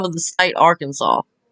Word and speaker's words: Arkansas: name of the state, Arkansas. Mispronounce it, or? Yeah, mispronounce it. Well, buddy, I can't help my dialect, alright? This is just what it is. Well, no, it's pronounced Arkansas. We say it correctly.